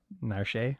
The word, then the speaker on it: Narshe: I mean, I think it's pronounced Narsh. Nash. Narsh. Narshe. Yeah, Narshe.